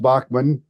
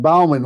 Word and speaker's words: Baughman: in his behalf yeah Dutch Bachman pronounced Bachman not Bowman like I did Dutch had to correct me back when F tying